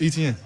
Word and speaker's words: Etienne: So I'm like, man, it's Etienne. Like, how you see it is how you say it.